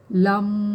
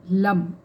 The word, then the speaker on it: लं: तब कर सकते हो इसका जो उच्चारण होता है वो होता है लम एल ए एम लम ठीक है और इसको आपको लंबा खींचना होता है इस तरीके से और